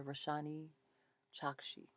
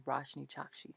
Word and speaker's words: Roshani Chokshi: So our story is called Forbidden Fruit by Roshani Chokshi. Roshni Chokshi. Her name is Roshni Chokshi, I'm sure.